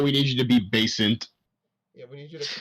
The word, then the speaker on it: Basant: need you to be basant. Yeah, we need you to calm down. Basant. Yes, and... Yeah. Basement? Yes, get back in the basement. Oh, God, no. No, basant. Based, and then NT. Basant. Okay, I'm gonna try and